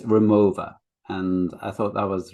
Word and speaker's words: Rimowa: so the company um i think you pronounce it with a v um because it's a german company from cologne and it's remover and i thought that